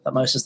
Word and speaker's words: Thutmose: So, again, her father, Thutmose I, or Thutmosis I, or, again, kids, there's a million pronunciations, never worry about that.